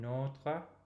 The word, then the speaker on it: notre: Donnez-nous aujourd'hui notre pain de chaque jour. So again, open O in notre and the same nasal vowel in pain.